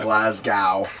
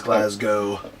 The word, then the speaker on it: Glasgow: It's not Glasgow. It's Glasgow.